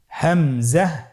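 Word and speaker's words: همزة: হামজা হরফটি উচ্চারণের ক্ষেত্রে বারিক করে উচ্চারণ করতে হবে এবং এখানে টেনে পড়া যাবে না।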